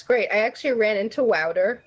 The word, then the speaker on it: Wouter: I actually ran into Wouter. He goes by Wouter, like powder. That's how you pronounce his name.